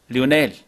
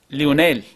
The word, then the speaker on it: Leonel: But it looked like he was saying it wrong because of the way it was spelled. L-E-O-N-E-L. It looks like it should have been Leonel.